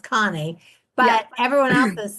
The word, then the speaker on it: Conny: way and I thought, well, I'm hoping it's pronounced Connie, but everyone else is c n i e, I think.